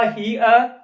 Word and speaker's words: here: होगा हियर, और जबकि इसका प्रोनाउंसिएशन THERE, इसका होता है देयर। दोनों की प्रोनाउंसिएशन में मात्रा का अंतर है, आप ध्यान रखेंगे। लगा ERE लास्ट में, लेकिन इसका होगा हियर, इसका होगा देयर, इसका उच्चारण होगा हियर, इसका देयर। तो दोनों में प्रोनाउंसिएशन के मात्रा का अंतर है, इस बात को आप ध्यान में रखें।